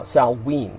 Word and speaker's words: Samhain: celtic holiday of uh salween as it is pronounced it's spelled yes yeah s-a-m-h-a-i-n but celtic of course is never pronounced as it's spelled it's like the kampuchean